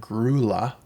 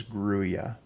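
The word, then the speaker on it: grulla: know that a lot of Canadians and others pronounce the word grla g Ru l l a but in fact the proper pronunciation is grya so that's the color I'm talking about jazz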